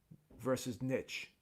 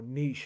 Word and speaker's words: niche: I think it's mainstream versus niche, or niche, however you want to pronounce that word. I call it niche. Sometimes people call it niche. I've heard it pronounced both ways.